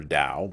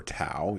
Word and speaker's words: Taoism: of taoism or taoism depending upon what your pronunciation is i prefer dao but you may prefer tau either way we're talking